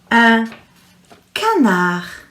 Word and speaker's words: un canard: Now the D will be silent as well. Are you ready? Un canard.